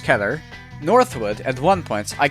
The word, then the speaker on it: Keter: First off, it's a Keter class, and yes, that's how you pronounce Keter.